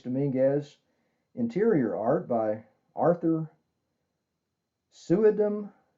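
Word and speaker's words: Suydam: Interior art by Arthur Suedem. I've heard it pronounced Sweedem. I'm going to play it safe and go with Suedem.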